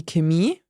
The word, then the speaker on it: Chemie: So it really varies on the region and dialect you're hearing in German.